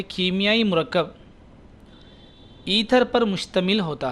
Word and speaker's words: aether: यहाँ पे बता रहा, देखिए ल्यूमिनीफेरस ईथर, यहाँ पे ए साइलेंट है, देखिए AETHER, ईथर। ये ईथर क्या है, केमिकल मरकब है।